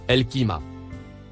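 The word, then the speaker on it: القيامة: Le mot en surbrillance bleue se prononce El-Qiyamah.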